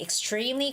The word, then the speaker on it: extremely: And the word extremely, extreme is where the stress is. So, it's got to be extremely cold, extremely cold.